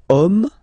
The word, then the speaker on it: homme: And then here we've got the word homme, man, okay, but then it starts with H, as in French, H is not pronounced, so the first sound that we hear is O, okay, and then it will follow the same rule.